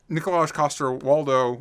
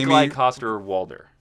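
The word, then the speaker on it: Nikolaj Coster-Waldau: But uh but but uh uh Nikolai Koster Waldo Wald I pronounced her wrong. You know who I'm talking about. Jamie Nikolai Coster Walder. There you go.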